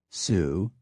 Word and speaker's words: Sioux: From the French, too, we borrowed liberally, taking the names for Indian tribes, territories, rivers, and other geographical features, sometimes preserving the pronunciation, Sioux, Mackinaw, and sometimes not, Illinois, Detroit, Des Plaines, Beloit.